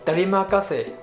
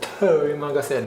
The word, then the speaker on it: terima kasih: Terima kasih, not terima kasih, no. But in spoken way, we will tend to speak it fast. Terima kasih. The sound ter become blended, so become terima kasih.